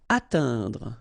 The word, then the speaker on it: atteindre: Atteindre. So remember when you combine this E-I-N together, you get the sound un. Atteindre, atteindre.